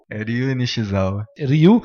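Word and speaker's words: Ryue Nishizawa: Ryu Nishizawa. Ryu é tipo o Ryu do Street Fighter. É de dragão.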